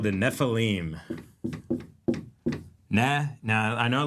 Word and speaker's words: Nephilim: bride essentially and they make something called the nephilim ne.